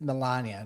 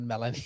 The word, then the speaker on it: Melania: But it's Melania, not Melanie.